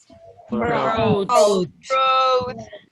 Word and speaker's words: brought: Brought. Do you remember something about pronunciation? You without you. You. Don't pronounce the U, so we say I hear the letter U.